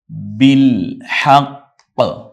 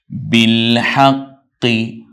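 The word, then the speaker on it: بِالْحَقِّ: এতো জবরের পর অতএব শুধু ওয়া এর এককটা উচ্চারণ করে যাব বিল হাক্ক বিল হাক্ক থামলে হাক্ক আর যদি বলি তাহলে হাক্ক কারণ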